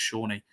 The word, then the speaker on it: Sone: Obviously we were calling him wrong the whole time. It was, Sone Aluko were calling him, but then one day I think someone asked him, how do you say it? And he went, oh, it's Shawnee.